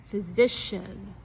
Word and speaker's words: physician: Physician.